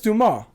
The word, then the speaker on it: Dumas: french his name is duma yeah it will spell dumbass yeah but i don't know is dumas french name absolutely it's not pronounced the way it's spelled a lot of things